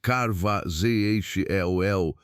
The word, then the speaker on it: Carvajal: His name was Gaspar de Carvajal, pronounced Carvajal, a Spanish friar, and in the year 1542